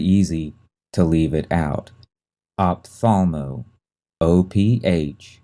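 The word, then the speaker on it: ophthalmo: tricky to spell because it has that first H in there that is silent we don't say it it's very easy to leave it out opthalmo op t h a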